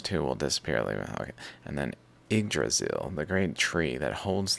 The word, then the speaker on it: Yggdrasil: Pronounce. Languages, it is said as Yggdrasil.